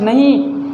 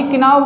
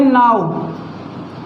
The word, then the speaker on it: know: जैसे मैं बात करूँ KNOW, तो इसको किनो नहीं बोलते, ना ही किनाव बोलते, इसको बोलते हैं नाव या नो भी कह सकते।